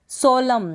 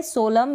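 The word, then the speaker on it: solemn: फिर है यहाँ पर सोलम, क्या है? सोलम। यहाँ पर भी हम क्या करेंगे, एम के बाद एन है, एम के बाद क्या है? एन है, तो इस एन का उच्चारण हम नहीं करेंगे।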